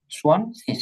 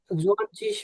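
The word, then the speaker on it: zwanzig: জোয়ানচিস বলা যাবে নাকি? না না, সোয়ান শীষ, এটা তো সেট না। সোয়ানজিস। হ্যাঁ হ্যাঁ, সোয়ান সোয়ান শীষ, সোয়ান জোয়ানজিস বলা যাবে কি? সোয়ান শীষ। শিখ বলতে পারেন, শিখ, শিখ। এই যে হ্যাঁ। গেট আছে না, গেটা লাস্টে থাকলে ক এর মতো উচ্চারণ হয়, তবে দুইটা সঠিক।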